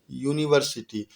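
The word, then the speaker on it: university: है या नहीं वह लेटर से लेकिन इसका उच्चारण यह जाता है यूनिवर्सिटी और यह क्या है व्यंजन ध्वनि है यानि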